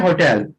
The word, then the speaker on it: hotel: हाँ, होटल नहीं, टल नहीं बोलिएगा, टेल बोलिएगा, टेल, होटल, टेल।